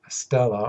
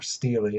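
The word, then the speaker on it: stele: one is the manapta Stella or Steely it's pronounced both ways by Scholars and this is a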